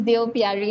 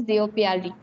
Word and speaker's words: Deo Piyari: Sir, it's my name is Deo Piyari. It's pronounced as Deo Piyari.